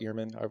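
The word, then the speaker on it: Ehrman: So like Bart Arman's like, "Okay, we have we have Petrine uh theology. I think it's pronounced earman. Excuse me. Can we go ahead and I think it's pronounced Bart Eman.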